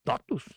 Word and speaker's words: TOTVS: Eu gostei do nome, falei totos com V. É porque é latim. Latim. O V é U.